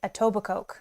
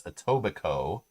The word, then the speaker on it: Etobicoke: about etobicoke right and they kept calling it a tobacco oh yeah it was so weird yeah that's not how you say it suburb of toronto ontario canada that's etobicoke but it's literally spelled